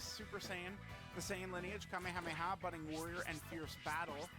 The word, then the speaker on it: Kamehameha: super attack is the kame kameha remember it's goten mispronouncing the kamehameha uh and he gets